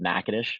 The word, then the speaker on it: Natchitoches: And he had said, "Hey, I have an athletic trainer who's in Louisiana, um, in a place," and he mispronounced the name, but it's called Natchitoches, which I can understand how someone may mispronounce that city name.